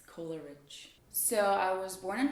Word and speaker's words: Kolaric: My last name is pronounced Kolaric, actually Kolaric. It's like rich Coca-Cola, Kolaric. People have their own variations like Kolaric, Kolarikovna, and a lot of other things, but it's Kolaric.